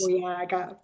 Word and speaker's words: Mbuyaga: Mbuyaga.